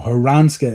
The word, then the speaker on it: Haransa: Haransa is how you pronounce that keeper's name. There you go. I wasn't sure how to pronounce it.